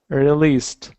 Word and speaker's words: released: Released. So with the R sound at the beginning of a word, I think that your R sounds when it is at the end of the word are much better.